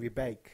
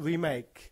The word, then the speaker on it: Rebake: was called the Gushion Rebake. Yes. I want to emphasize the word rebake. not remake.